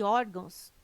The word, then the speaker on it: órgãos: correto caráter intransferível e órgãos tem suas sílaba tônica na penúltima sílaba são paroxítonas observação poderia gerar dúvida